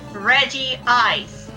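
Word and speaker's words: Regice: already got our stuff also reg I in Japanese it is indeed Reggie ice oh Al that's also how it's pronounced in the the one of the Pokemon movies oh jeez or they just leave the name untranslated despite it being pronounced in English is in other places in the anime refer to as reg I as it is written but like yeah Reggie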